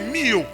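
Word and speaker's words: μύω: En grec, mystère, je le disais, c'est mystérion ou encore mio. Mio s'écrit pour ceux qui écrivent M-U-O.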